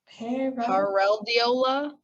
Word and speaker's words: pareidolia: Yeah, the last bit is Dolia. Pareidolia.